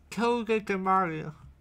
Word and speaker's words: Togedemaru: Tokidomaru. There you go. Thank you, my friend. I wouldn't be able to say it correctly. Togedemaru.